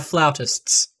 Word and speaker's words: flautist: __ ] um it's the flautist they are flautists that's how you pronounce it but like okay if I saw